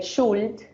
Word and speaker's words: Schuld: En alemán la palabra Schuld, que se escribe S-C-H-U-L-D, Schuld, eh, que se utiliza para hablar de